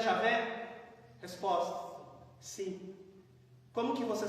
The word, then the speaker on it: Javé: E esse primeiro H aqui, que é uma consoante hebraica, eles substituíram pela primeira vogal de Adonai. E esse outro H, eles substituíram pela primeira vogal de Elohim. Agora eu consigo pronunciar o nome pessoal de Deus. Como o Y, para nós é vogal, mas em hebraico é consoante, equivale ao J.